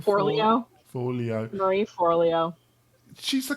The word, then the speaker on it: Forleo: Marie, how do you pronounce her second name? Forleo.